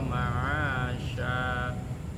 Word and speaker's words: ma'asya: Wa ja'alnan nahara ma'asya. Sya ya. Kalau ada kayak sin titiknya 3 huruf sya, bukan sa.